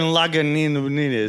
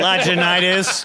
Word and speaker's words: Lagunitas: It's still better than Lagunitas. Yeah. Lagunitis. Can I get a Lagunitis? Like, no, but I can give you a pill for it.